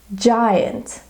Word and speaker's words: giant: Now we're coming across to the word we identified within our passage, giant. Giant has the J sound, however, it is spelled with a G.